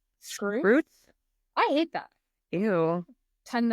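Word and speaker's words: Skrewts: Apparently, we did a whole episode where I kept talking about Blast and Skirts. And apparently that's not how you say it. Blast and it's Scroots?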